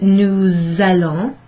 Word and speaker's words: nous allons: an A, and what I need you to do, therefore, is to pronounce that S. It's sort of, it sounds a bit like a Z actually. Nous allons. It's almost like that's one word together.